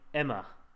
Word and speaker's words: EMA: have left question mark EMA is pronounced like the name Emma okay we calling it Emma